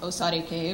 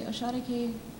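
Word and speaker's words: Oshare kei: too and kagura so this one has a couple pronunciations uh one site was osare k but then there's osha so i'm going to say osha k twice and then the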